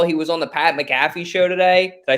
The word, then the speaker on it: McAfee: you guys saw he was on the Pat McAfee show today did I say it right Pat McAfee Jesus Christ the Pat McAfee show today and uh McAfee yeah I'm sorry